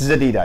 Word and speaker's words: Zededa: Yeah, they sometimes won in pronouncing it, because they pronounce it in Russian way, for example, which is a bit different, right? I've heard it pronounced in many ways. Ultimately, I think what matters most is not only pronunciation, but you know, it's Zededa if you really want to say it the right way.